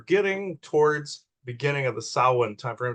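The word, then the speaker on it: Samhain: and as you're getting towards beginning of the saan time frame it's pronounced sa people call it Sam Hayne but uh that's where not only it's known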